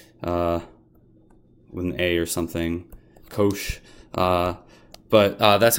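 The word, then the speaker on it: cosh: and over again so people usually just say coach I don't know how else to spell it maybe with an A or something coach but that's how you say that and then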